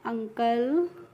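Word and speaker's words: uncle: तो यहां पे जो यू का प्रोनाउंसिएशन हो रहा है अ करके हो रहा है। कैसे हो रहा है? यू एन सी एल इ है। तो इसको हमें पढ़ना है अंकल।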